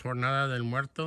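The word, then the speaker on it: Jornada del Muerto: ahead over there that is the in spanish pronounced tornado del muerto the entrance and or in english the journey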